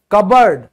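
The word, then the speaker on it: cupboard: और ये एक्सेप्शंस हैं, यहां पे भी पी साइलेंट होगा। रासबरी, रासबरी, ठीक है, रिसीट, रिसीट, और कबर्ड, कबर्ड, और कूब, कूब, ये भी साइलेंट होगा।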